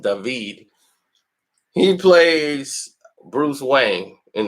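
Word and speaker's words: David: Ghostbusters film the new Ghostbusters movie coming up dahveed which is spelt dated but it's pronounced dahveed he plays Bruce Wayne in the Gotham series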